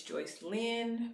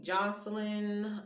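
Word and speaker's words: Joycelyn: name is joyce um my real name is joyce lynn people call me joyce all my whole life because most people pronounce my full name wrong they call me jocelyn um so i just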